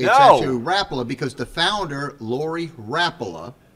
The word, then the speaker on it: Rapala: I got the message that you know, Rapala was going to have a saltwater type segment.